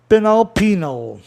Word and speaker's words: penal: Penal. Penal está na mesma, no mesmo sistema comum de 2 sílabas, né, onde tem uma vogal separando a vogal tônica da átona.